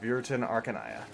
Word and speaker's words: Viriton Arcanaya: Also, if you're wondering about the name, it's pronounced Viriton Arcanaya. Or you can just call me Viriton.